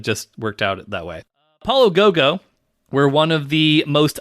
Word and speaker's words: Apollo 55: It's written as Apollo 55, but apparently it is pronounced Apollo Go-Go, which go is Japanese for 5, which if we were still numbering our episodes, as a fun fact, this would be episode 55.